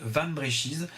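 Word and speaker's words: Wambrechies: Donc on prononce Van Brechies.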